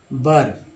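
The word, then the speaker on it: were: Reveals that rich resources, देखिए resources in colonies वर, WER को वर पढ़ेंगे, ऐसे ही पढ़िए, वेयर नहीं पढ़िए।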